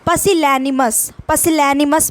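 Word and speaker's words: pusillanimous: अब इसका PA से पढ़ेंगे, PA ऐसे प्रोनाउंसिएशन करेंगे। पसिलैनिमस बोलेंगे इसको। लैकिंग करेज, यानी ये करेज ना होना।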